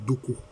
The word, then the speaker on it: Dogbo: Ainsi, à Sayue, jusqu'à ce jour, existe la terre des Bangbu, dérivée de Bangbu, et la rivière Dogbo, prononcée Doko.